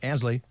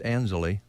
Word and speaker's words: Ansley: Most of us say Ansley, but it's Anzeli.